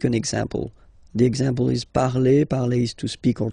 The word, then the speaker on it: parle: The first person, like je here, so you will put this parle again, so remember, and after that you just put the ending e. And then the way to pronounce it is je parle, parle. So remember, we put it, okay, but then we don't really pronounce it.